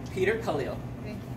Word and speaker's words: Khalil: Peter Khalil. Thank you. How do you spell it? K-H-A-L-I-L. You sound like the writer. Like Khalil Gibran, the poet, yeah. Okay. That's the way it sounds.